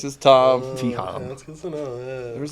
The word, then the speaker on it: Thom: like am I have I been saying your name wrong so I was like th this entire time no it's just Tom that's good yeah there was like a pro